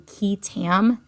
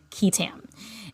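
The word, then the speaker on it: qui tam: term for whistleblower suits is what's called a key Tam action and that's spelled q-u-i space t-a-m ketam and ketam is the abbreviation for the Latin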